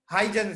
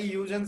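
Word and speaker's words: Huygens: था सबसे पहले किसने हाइजन है ठीक है कई लोग इसे हाइजन कहते हैं कई यूजन कहते हैं ठीक है यूजर्स कहना हम इसको ज्यादा प्रेफर करेंगे एच साइलेंट मान लेते हैं तो बेटा देखो यूजर्स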